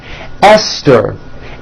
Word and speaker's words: Esther: Although these next words and names are spelled with a TH, they are pronounced as if they were spelled with a normal T, like that.